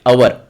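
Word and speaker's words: hour: आहे तास एक तास अवर काय म्हणतात त्याला अवर हचा उच्चार नाही सायलेंट आहे मग सुरुवात उच्चाराची कशाने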